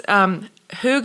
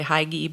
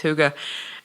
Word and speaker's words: hygge: It's Hygge, I think is how it's pronounced. It's spelled more like it should say Heige, but I think it's Hygge.